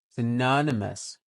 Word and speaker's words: synonymous: adjective right so and the EST is on the second syllable n synonymous right it means having